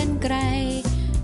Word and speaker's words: กรรไกร: รอย และ ก็ รอ หัน อ่าน ว่า กรรไกร Turn อ่าน ว่า กรรไกร ไป ห้าง สรรพสินค้า